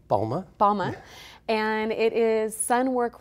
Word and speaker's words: Balma: Balma, did I pronounce it right? Balma.